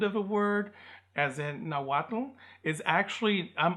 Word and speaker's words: Nahuatl: It's almost a silent L, but it's pronounced, but it's just barely there.